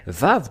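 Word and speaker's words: ו: Et même si vous dites Vav, W-A-V, ou Vav, tout simplement, ça se lit toujours V.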